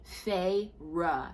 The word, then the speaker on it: Feyre: this part in because people did not know how to pronounce Feyre. The boy stood but kept to the other side of the cell. Feyre, he murmured, cocking his head. The orb of Fey-light glazed the inky hair in silver. Feyre, he said again, drawing out the syllables as if he could taste them. F-A-Y -R-U-H.